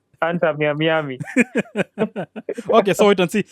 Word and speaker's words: Inter Miami: The name of Messi's team is Inter Miami, not Inter Miami.